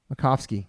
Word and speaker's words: Macofsky: Macofsky.